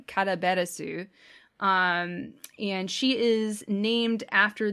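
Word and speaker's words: カラベラス: i guess um and her name in japanese is pronounced uh karaberasu and she is named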